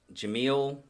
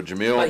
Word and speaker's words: Jamil: Yeah, okay, so Jamil. He was Jamil actually acquitted of all Charga. Crimes. Jamil Yarga or Chagra. Yeah, Jamil. Because in Spanish, the J is pronounced like an H, and if I'm getting